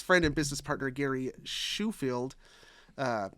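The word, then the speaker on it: Shoefield: and business partner Gary shufield uh I think it's shufeld Sheffield no it's spelled like shoe for the f-e-l-d at the end shuffled anyway way they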